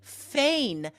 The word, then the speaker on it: feign: Instead of fake an illness, you could say feign an illness. Now, we need to explain how to spell this because it's not obvious. Right. It's spelled like rain, right? Feign.